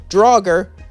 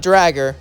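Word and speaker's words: Draugr: like comment and subscribe and I know it's pronounced dger not Drager so please don't correct me in the comments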